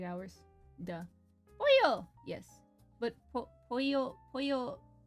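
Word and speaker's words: Poyo: But pollo, like, it's spelled, the Kirby way is spelled with a Y. P-O-Y-O. The chicken way is 2 L's. But it's pronounced as a Y, so, you know, whatever.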